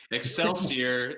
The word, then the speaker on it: Excelsior: cap i should have asked you how to pronounce that i'm probably it's okay excelsior it's called excelsior it is the state motto